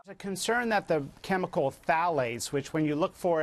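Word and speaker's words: phthalates: tied to diabetes a concern that the chemical thales which when you look for it is spelled p t h a l e t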